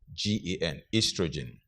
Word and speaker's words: estrogen: That's British English, O-E-S-T-R-O-G-E-N, estrogen. Americans spell it as E-S-T-R-O-G-E-N. The O is missing there, but the pronunciation is the same, estrogen, estrogen.